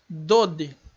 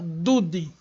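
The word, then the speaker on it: דוד: Aqui embaixo na palavra dode, dode e não dude, dude. Não é dude, é dode, que significa tio ou amado, já assume o som de O.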